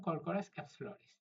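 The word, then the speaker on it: Corchorus capsularis: কিন্তু এটার সঠিক উচ্চারণ কিন্তু হবে কর্করাস ক্যাপসুলারিস।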